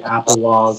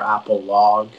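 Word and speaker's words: apologue: so the word is there's two slight different pronunciations it can be apple log or apple log it's not that much difference uh it's a noun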